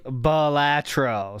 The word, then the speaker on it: Balatro: It is Balatro.